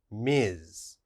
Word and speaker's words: Ms.: nowadays is this one ms the ms is pronounced ms miz and we only use miz for women but